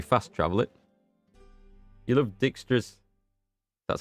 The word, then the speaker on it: Dijkstra: right away probably fast travel it you love Dijkstra that's how you pronounce its dialogues um I love all the